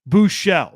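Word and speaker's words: Buchele: Shane Buchelle, that's the corre the correct pronunciation.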